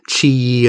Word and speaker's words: Qi: Lube you know that Qi weii adds pronounced Chi and this is the